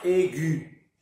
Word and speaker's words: aiguë: que c'est un tréma ce très mal nous indique qu'il faut prononcer la voyelle qui est avant donc on doit dire aiguë le tréma ici sur